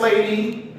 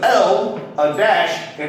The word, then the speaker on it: Ladasha: The name was L, a dash, and an A on her name tag. So like, La? Nah. She yelled at him and said, it's Ladasha. Like, that's a name that